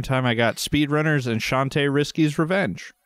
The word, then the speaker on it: Shantae: I got Speedrunners and Shantae Risky's Revenge. So Shantae Risky or Shanti or Shanta or whatever. I've heard it pronounced a bunch of different ways. It's Shandi.